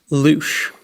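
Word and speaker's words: louche: The word in question rhymes with the French words for shower, fly and mouth. Trinity Hughes. Loosh.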